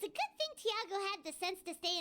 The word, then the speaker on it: Thiago: his name is Thiago Thiago is actually a really common name here in Brazil we pronounce it Chiago and I think his